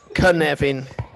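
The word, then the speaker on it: Cynefin: say it absolutely fine it's khan nevin yeah c in welsh is always like a k in english so nice to see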